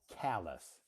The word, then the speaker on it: callous: callous, Oh, not call. Callous. callous. Pronounce Yeah. Yeah. callous. Yeah. Call just the telephone. Yeah. Call. Right. It looks like call because it's spelled Call, but this word is pronounced callous. Callous.